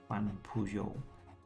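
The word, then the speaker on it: Juan Pujol: Now we are spy master, so we've got access to the British agents and this guy, Van Pujol. That's how you pronounce his name.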